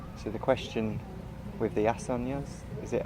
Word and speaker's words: asanas: So the question with the asanas, is it how do you pronounce?